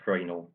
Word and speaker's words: Fresnel: I think might be pronounced Fresnel, but Exactly right, yes.